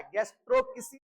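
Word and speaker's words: gastroschisis: गैस्ट्रोसिस ये अलग ही टर्मिनोलॉजी है बेटा, ये होता है गैस्ट्रो किसी की, इसमें चिची नहीं होता है, गैस्ट्रो किसी होता है।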